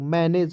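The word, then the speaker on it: manage: हो जाएगा तो जीई का प्रयोग य पर ग ज के रूप में करना है ठीक है तो मैनेज हो जाएगा एम ए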